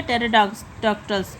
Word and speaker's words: Pterodactylus: देखिए इसमें P silent हो जाएगा तो ये हो जाएगा टेरोडॉक्टल्स, PTERODACTYLUS, टेरोडॉक्टल्स।